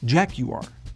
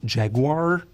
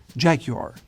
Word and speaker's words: Jaguar: But in England, it's called Jaguar. So the U is much more pronounced and the R is very soft. So it's not Jaguar, but Jaguar.